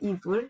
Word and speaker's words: evil: evil. V 발음이에요. 여기 약간 나쁜 거에 V가 많이 들어가죠.